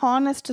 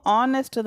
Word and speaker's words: honest: அதே மாதிரி HONEST ஹானஸ்ட் சொல்லக்கூடாது, ஹெச் வந்து சைலண்ட் அங்கே, அப்போது ஆனஸ்ட்டு தான் சொல்லணும்.